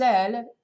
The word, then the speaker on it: elle: But sans elle, E-L-L-E, can also mean without her. So E-L-L-E or A-I-L-E are written, are pronounced exactly the same way in French.